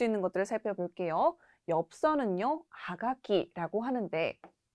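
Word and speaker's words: はがき: 그래서 옛날에 이렇게 입에 썼던 것이 지금까지 내려와서 엽서는 하가키라는 표현이 되었습니다. 이때 주의하실 점이 카쿠라는 동사에서 왔지만 타급 현상이 일어나서 가키라고 발음된다는 점 주의하시면 되겠죠.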